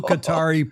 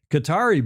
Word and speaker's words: Qatar: Apparently there was a match race between an American flag boat and a Qatari boat. Speaking of Qatar Cutter some people would pronounce it in Doha earlier this week.